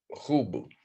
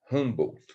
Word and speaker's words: Humboldt: E o outro também, que eu também nunca ouvi falar, William Humboldt, deve ser essa a pronúncia. Humboldt, por aí.